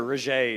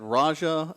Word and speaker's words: Roget: Roget is the way to say it. Yeah, I think I had Raja and I've heard it a million different ways.